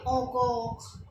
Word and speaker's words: encore: EN को हम ओ बोलते हैं और ENCORE ओकॉक मीन्स अगेन।